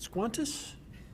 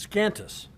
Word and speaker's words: Scantus: Wishing to speak in favor, Rosaline, is it Squantus? It's Scantus.